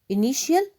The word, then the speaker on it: initial: Initial الحرف الأول. TI is pronounced sh.